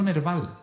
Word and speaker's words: Nerval: Y me salió Nerval, no sé, me salió así, Nerval, sonaba bien, Nerval, suena como nervio, Nerval.